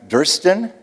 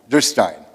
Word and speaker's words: Durstein: Durston? I got it right? Oh, is it Durstein? Durstein.